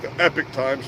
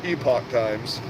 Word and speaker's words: Epoch Times: if you have Epoch times everybody calls it The Epic Times but it's pronounced Epoch times um epics not spelled the same way as